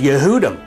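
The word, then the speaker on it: יהודים: And one answer is the fact that the word transliterated in Hebrew for Jew in English is pronounced Yehudi. And the word Jews is Yehudim.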